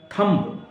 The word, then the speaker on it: thumb: थंब, अंगूठा, THUMB, थंब, बा नहीं बोलेंगे, थंब। इसका उच्चारण क्या होता है? थंब, बी नहीं बोला जाता, थंब।